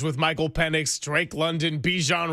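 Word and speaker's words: Bijan: Robert Salah in particular big big challenge with Michael Penn, Drake London, Bejan Robinson or Bjon I guess is the correct pronunciation.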